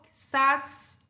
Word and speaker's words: quizás: Quizás termina em S e a sílaba tônica também é a última. Então, eu acentuo todas as agudas que terminam em N, S e vogal.